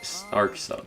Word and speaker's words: Sarkso: Okay, Sarkso, that's how it's said.